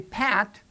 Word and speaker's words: pat: But you can actually feel the difference from the bilabial sounding pat and spat. If you put your uh hand right in front of your mouth and you pronounce pat. When you say pat, you will feel the burst of air that you